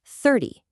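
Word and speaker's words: thirty: Now, compare that to 30, which is thir-ty. You hear that? The emphasis shifts straight to the front, and the end is totally flat.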